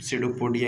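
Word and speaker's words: pseudopodia: सीडोपोडिया English में लिखा हुआ रहेगा, सीडोपोडिया पी से उसका स्पेलिंग चालू होगा।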